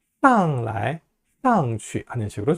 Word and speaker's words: 来: 방향보호로 쓰이는 来하고 去는요, 약하게 경성으로 발음합니다. 上来, 上去 하는 식으로 좀 약하게 발음하세요.